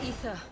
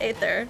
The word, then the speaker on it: Aether: the uh Lisa it's ether we better make this quick what happens if there's ether in there I thought it was always pronounced Aether I guess the a is silent ow stop chasing me